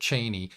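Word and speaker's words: Chani: and how the romantic interest between Paul and Cheney it looks like Chie but Frank Herbert pronounced it Cheney it it really didn't work in the movie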